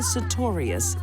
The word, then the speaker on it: Sartorius: I think the best thing to be learned here is never marry a woman whose last name rhymes with notorious.